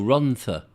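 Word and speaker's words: Rhondda: on the voices the the double d is pronounced as a th oh ronta run the voices run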